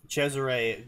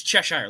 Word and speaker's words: Cheshire: No, seriously, the pronunciation is Cheshire, like the Cheshire Cat.